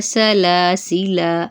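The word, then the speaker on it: سَلَاسِلَا: रहा है लेकिन वो अलिफ जो है वो साइलेंट है वो नहीं पढ़ा जाएगा ठीक है तो इसको हम पढ़ेंगे सलासिला जैसे कि अगली लाइन में आपको नजर आ रहा है पढ़ने की सूरत वाली लाइन में सलासिला हरकत को लंबा नहीं करेंगे।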